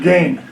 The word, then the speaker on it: Gaghan: I believe that's pronounced gain.